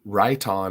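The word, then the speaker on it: Riton: good budget option and right on is how you say that rit-o-n that he posted earlier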